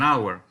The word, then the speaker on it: hour: sound house but an hour here a the H is silent you see so you